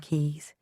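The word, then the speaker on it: Caius: Only those in the know could pronounce the keys properly in Gonville and keys.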